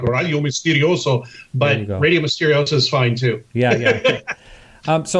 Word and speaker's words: Misterioso: Yeah, I pronounce it like Spanish because I grew up in Southern California.